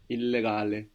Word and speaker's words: illegale: Illegale. And you pronounce both L's as well.